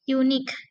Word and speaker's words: unique: Nah, ini pada akhir atau final syllable. Unique, unique. Japanese, Japanese, Javanese, Sundanese, Sundanese gitu ya.